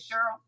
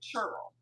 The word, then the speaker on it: Cheryl: and she pronounces it churl. So I want to Say make say sure it again. How did you say it? she pronounces it. I have someone else in my life who pronounces it churl, like chuh chuh.